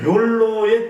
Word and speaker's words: 욜로: 그나저나 자 욜로의 뜻은 뭔가요? 궁금한데. 욜레. 네. 욜로요. 욜레 아니고 욜로.